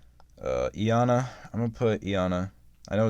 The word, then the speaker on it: Iana: fine by me uh ianna i'm gonna put iana i know it's yana but i-a-n-a-e anna that's how i pronounce it um you know i'll put her